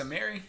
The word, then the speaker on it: Amiri: But yeah, so it's pronounced Amiri. I was saying Amari. I was saying Amari. I don't know. I think it is Amiri.